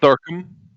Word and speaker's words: Thorkuhm: Thorkum. Spell it for me.